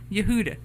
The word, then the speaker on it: Yehuda: Yehuda.